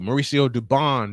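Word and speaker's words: Mauricio Dubón: Mauricio Dubon is the correct pronunciation.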